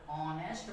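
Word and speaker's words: honest: इज एन ऑनेस्ट बॉय यहां ऑनेस्ट पढ़ते है ए साइलेंट है ऑनेस्ट ओ से स्टार्ट हो रहा है प्र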